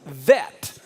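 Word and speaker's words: בית: in the middle uh the letter bet can also be pronounced with the v as vet but when they don't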